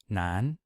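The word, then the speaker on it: 南: cited component in Chinese we have Nan for South and you'll notice that that's the same pronunciation as Nan for male so same pronunciation different character we have Bay for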